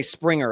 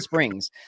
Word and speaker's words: Springs: I want to say Springer every time I say his name. But Springs.